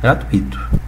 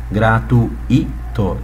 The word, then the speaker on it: gratuito: colocando comum e ato mas não é ato é o nosso dito quem é gratuito tá inúmeras pessoas irão pronunciar essa palavra a seguinte maneira gratuito transformando num hiato concorda comigo sim há